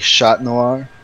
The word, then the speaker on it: Chat Noir: Except Cat Noir is spelt French, so it's like Chat Noir.